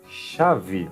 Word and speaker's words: chave: E a primeira parte vai ser com sh. Então, em espanhol, essa pronúncia será ch. Em português será sh. Soplada, soprado, ok? Sh. Vai lá, os exemplos. Chave, olha aqui, já aparece, ó, como I. E aqui, V. Então vocês vão percebendo que as pronúncias vão se unindo. Chave, chocolate, bolacha, chapéu e cachecol.